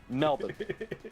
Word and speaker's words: Melbourne: Melbourne. That's how they Jesus pronounce it.